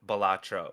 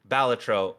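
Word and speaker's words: Balatro: That's like most people pronounce it bolatro, but apparently the the the creator has come out and said it is technically batro, but you can say whatever you want.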